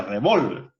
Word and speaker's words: revólver: Se nos damos cuenta que no es lo mismo revolver que revólver. ¿Y cuál es la diferencia? La única diferencia entre esas dos palabras es que la mayor fuerza de voz lleva en una sílaba distinta.